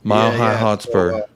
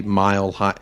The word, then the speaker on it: Mile High Hotspur: so people can see mild hi sometimes i pronounce things funny um just just that way mile high hotspur like mile high stadium uh definitely want to